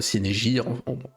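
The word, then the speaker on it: Cynégire: Et son frère Sinégi prononcé à la française euh est célèbre pour avoir posé la première main sur les navires perses en retraite à marathon.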